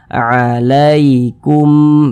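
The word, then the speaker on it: عليكم: Kemudian di sini ada huruf ya sukun, sebelumnya tanda baca fathah, berarti huruf ya sukunnya ini adalah huruf lin lagi. Tadi sudah detail kami jelaskan di awal. Maka cara membacanya dilunakkan. Alaikum, begitu.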